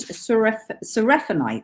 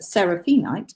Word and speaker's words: seraphinite: This one is faceted seraphinite, sometimes pronounced seraphinite, but I say seraphinite.